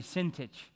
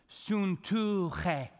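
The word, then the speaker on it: Syntyche: The Y's in this name are ooh, okay? And the C-H-E is che, okay? So here's the way you pronounce the name, Suntuche.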